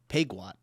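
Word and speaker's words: Peugeot: Pujo had a little more luck, but only a little. Do you know how we pronounce this? Puat.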